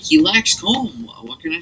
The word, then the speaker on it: Colm: His name is Colm O'Driscoll, but that's not how you say it. It's C-O-L-M. Okay. And it's actually pronounced Colm.